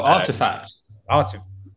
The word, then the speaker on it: RTFKT: rtfkt studios yeah yeah pronounced artifact effects but i can see what you mean because they've they've done that really cool thing where they take out all the vowels took out all the letters that made sense yeah